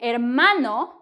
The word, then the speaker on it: hermano: to your siblings Tu hermano brother to hermana sister now note here I'm not pronouncing the H because the H in Spanish is silent yes it is a